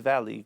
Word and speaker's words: Valle: Este profesor que se llama David Valley, que se escribe David Valle, cuando yo lo escuché, de verdad que se me abrió un telón.